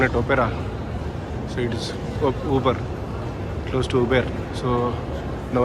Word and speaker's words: Auber: This is Uber, not Auber. I was pronouncing it as Auber. But in the train she was saying it as Uber.